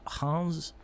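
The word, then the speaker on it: Reims: weekend uh psg beat hans in uh messi's debut that is how you pronounce it yeah it's the it's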